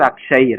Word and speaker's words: Akshaya: So yeah, in Kannada, and actually in Hindi, you pronounce it as Akshay, right? Akshay, like Hindi has like that, like Akshay, you just cut it. You can write Akshaya, also you can write in Hindi, right?